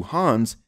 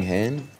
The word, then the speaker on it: Han: taken from the seat is in reference to hans this seat in other other words the movie is not talking about the that you are anything hin it's han but that's okay this attempt to